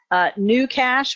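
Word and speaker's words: GnuCash: all kinds of businesses new cash which is spelt GNU for new new cash is similar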